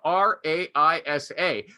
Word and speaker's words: Raisa: but this woman says my name is r-a-i-s-a but it's pronounced raisa and it's mis and